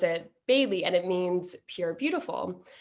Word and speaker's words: Bai-li: he said to me your chinese name is bailey that's how you pronounce it in mandarin um but to keep